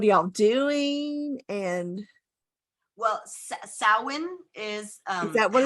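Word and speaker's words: Samhain: and uh what are y'all doing and well sowin is um is that what it's called okay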